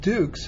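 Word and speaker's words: Dux: worthless, is it's spelled D-U-K-E-S. And those who are familiar with me, even though my name is Dukes and pronounced Dukes, it is spelled D-U-X, right, which means the inscription would have been wrong.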